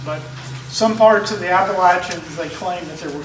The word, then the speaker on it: Appalachia: But some parts of the Appalachians, they claim that there were 50% chestnuts.